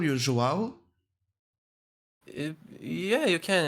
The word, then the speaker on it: João: Joao? Yeah, you can. It's actually pronounced João.